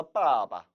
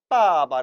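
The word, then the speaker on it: 爸爸: 관계에 대해서 살펴보도록 합니다 이 빠바 라는 단어는 원래는 이처럼 4성 입니다 바로 또 아 아빠 까 아 아빠 라고 발음해야 하는 것이죠 하지만 여러분들이 생각해보세요 아빠라고 부를 때 나빠 너무 발음이 강하다는 거죠 한국은 얘기하면 아빠 그러면 이것은 상대방에게 오해를 불러 일으킬 수도 있다는 겁니다 따라서 언제부터인가 중국인들도 부드럽게 하기 위해서 습관적으로 뒤에 있는 빠를 경성 처리했던 것이죠 아아 아파 따 아빠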